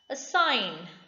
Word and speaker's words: assign: talk l is silent assign g is silent what does assign mean